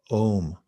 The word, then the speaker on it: Om: And you can harmonize that vibrational center with the mantra Om.